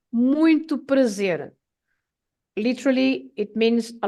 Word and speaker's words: muito: When you are introduced, you can say nice to meet you, and you should say muito prazer.